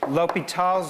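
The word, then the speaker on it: L'Hôpital: deal with infinity and it's what's known as lal's rule so here's lal's rule that's what we're going to do today lal's rule is also known as Lal rule that's the same name since the circumflex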